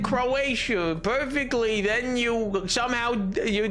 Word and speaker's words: Croatia: You're not pronouncing uh Croatia. You're pronouncing uh Croish, but it's not Croisher. Croatia is not Croisher.